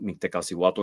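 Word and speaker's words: Mictecacihuatl: the Aztecs adore called Miktasiato. There's a lot of ways to pronounce her name, but Mekasiato is the Nal uh pronunciation and name of this divinity.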